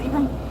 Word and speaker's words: Ephraim: It's Ephraim. No, ain't no S in it.